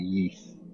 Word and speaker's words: Ys: wise nine uh i think it's called the yeast oh that's how you pronounce it the east series yeah yeah uh was very good and